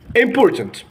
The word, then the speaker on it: important: this world import and we didn't pronounce the last T at the end important import important so